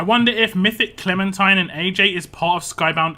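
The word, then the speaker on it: ají: how to pronounce it it's a j i so like Aji is how I pronounce it Aji Verdi v-e-r-d and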